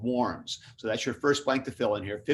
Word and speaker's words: Worms: fill in here 1521 the diet of warms and you've heard of this is looks just like diet of worms d-i-e-t w-o-r-m-s and worms was a city in germany that's just where we get the name for this so we have warms and the diet meant